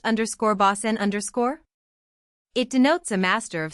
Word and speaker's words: bosun: Derived from the French _bossman_, or the English _bosun_, pronounced _bossen_.